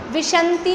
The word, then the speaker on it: विंशति: द्विनवाष्टादशेक विंशति, त्रिभेदा यथाक्रमम, विशंति नहीं है, विंशति, विंशति, वा पे है अंक की मात्रा। द्वि यानी 2, द्वि यानी विंशति बोल रहे हैं। कुछ लोगों की प्रोनाउंसिएशन मुझे आवाज़ आ रही है विशंति जैसा, इसलिए मैंने बताया विंशति।